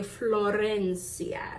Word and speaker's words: Florencia: In Spanish we say florenia. Make sure you do the row.